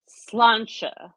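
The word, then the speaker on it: sláinte: uh by the way it's slancha and you got to kind of slur it and you got to have an Irish accent who what is it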